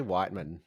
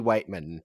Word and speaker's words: Weightman: and I'll say that his name is Cody Weightman. Weightman. What did I say? Whiteman. You said Cody Whiteman, and Weightman.